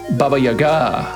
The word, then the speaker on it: Baba Yaga: make a fuss about how the proper Russian or like you know Slavic pronunciation is Baba Yaga Baba Yaga um but the thing